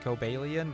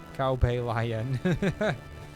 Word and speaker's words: Cobalion: I know Typing Adventure pronounces it Cobalion, but I refuse to say it like that.